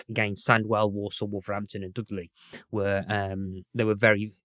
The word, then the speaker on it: Dudley: accent of our youths dude lie is a particularly broad black country pronunciation of Dudley it is yes yeah